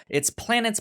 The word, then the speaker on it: Planetes: It's Planets, but it's spelled Planetes Hmm. at the end.